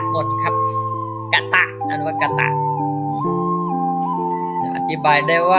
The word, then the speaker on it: กตะ: กตะ อธิบาย ได้ ว่า อักษร ที่ ไม่ มี เครื่อง หมาย ใด อยู่ บน หรือ ล่าง และ ไม่ มี สระ ใด ๆ กำกับ ให้ อ่าน ออก เสียง เป็น สระ อะ ทุก ตัว เช่น ถะ ให้ อ่าน